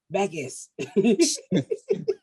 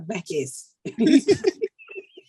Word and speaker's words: Backess: You not listen to the syllable, Backess. I got a back and a little bit of ass. You don't hear that ass in the Backess.